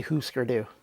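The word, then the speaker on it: Hüsker Dü: So we should start off with the name. I like to call them Husker Du, but the proper pronunciation based on the umlauts, that's the two little dots above the U's, would imply that it's oo. So Husker Du. I don't like the way that sounds. It makes me feel icky to say Husker Du.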